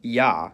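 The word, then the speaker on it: Я: It's called yah. And as its name suggests, in most cases it sounds like yah.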